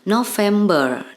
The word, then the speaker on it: November: Di sini diucapkan dalam bahasa Inggris bulan November ini adalah November. Jadi R-nya agak disamarkan.